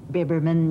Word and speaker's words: Biberman: Is it pronounced Biberman? Biberman, yes.